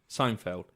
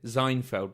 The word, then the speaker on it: Seinfeld: some reason it's called Seinfeld yes but I often will pronounce it zeinfeld because I speak a bit of German how can I design